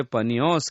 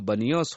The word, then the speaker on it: बनियोस: यह वेदी पान देवता की थी, जिसे वे पनियोस कहते थे। अरबी लोग प का उच्चारण ब करते हैं, अतः उसका नाम बनियोस हो गया।